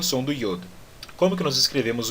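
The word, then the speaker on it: יוד: Yod. Como é que nós pronunciamos o Yod? Como o som do I na palavra Yodo. Tá certo? Bem parecido também até com o nome da letra.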